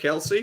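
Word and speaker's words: Kelce: you know the story about why they're called Kelsey no right so Travis and Jason Kelsey they're dads like didn't know if there were Kels or Kelsey but like kind of preferred Kelsey so it was just like just call me Kelsey I didn't find out like years later it's actually Celts it's like people would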